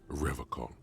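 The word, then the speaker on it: Revachol: logs at his feet he pronounces rivercon with a hard K unlike other people serious question time this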